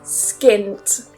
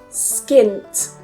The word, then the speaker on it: skint: Number 7 is skint. Skint. Make sure you get that t at the end.